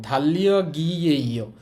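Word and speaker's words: 달력이에요: বাট বলার সময় এই যে গিয়কটা কিন্তু বাচ্ছিমের কারণে ইর স্থানে চলে যাবে। হ্যাঁ, তো উচ্চারণটা হবে ধাল্লিয়া গিয়েইও, ক্যালেন্ডার।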